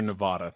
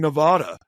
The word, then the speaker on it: Nevada: accurate right but but get out of here with your Nevada that's not that's not if you are in if you're in Vegas and and you say oh you know how long have you lived in Nevada they're gonna be like all right get out I mean it's Nevada it's a same thing